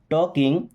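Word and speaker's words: talking: क्या we means हम टॉकिंग देखिए एल साइलेंट है टॉकिंग मींस बात कर रहे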